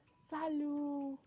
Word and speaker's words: Salut: so the first greetings we have here is Salo Salo is spelled s a l u t Salo s